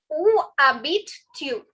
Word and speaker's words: Où habites-tu: Où habites-tu? Okay. Où. Please remember, guys, the H is silent, the S is silent.